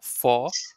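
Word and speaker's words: vor: fou so f o for and then R so either normally you can say for but normally whenever a word ends with the alphabet R you don't pronounce it you just skip it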